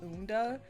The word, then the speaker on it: Unda: Also, for anybody who's asking, I pronounce it Unda. A lot of people are just like, I have no idea how to say this thing's name. It's pronounced Unda for me.